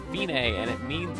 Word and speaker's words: Fine: note or dotted half rest it looks like fine but it's pronounced Binay and it means it's the end to the